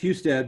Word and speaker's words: Husted: you chief who stood how do you pronounce your last name its Husted but it's fine I I when I was